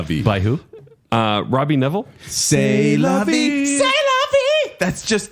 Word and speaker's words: C'est la vie: C'est la vie. Oh, maybe it's just C'est la vie. C'est la vie. By who? Robbie Neville. C'est la vie.